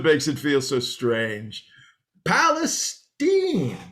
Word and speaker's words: Palestine: Great, Zeke, but actually, it's Palestine. Oh, well, excuse me, Palestine. So we're going with the hoity-toity pronunciation now, are we? Well, actually, it's a good old Texas pronunciation.